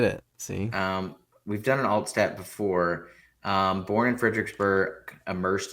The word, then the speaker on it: Altstadt: This is the second Altstat that we've had I think on the I, pod. I I like the emphasis, but I think it's just pronounced Allstat.